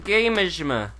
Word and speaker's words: Tanegashima: Tanegashima. Yeah, see, Tanegashima. Tanegashima? Tanegashima. Tanegashima? Tanegashima. It's not pronounced... I don't think it's pronounced Tane.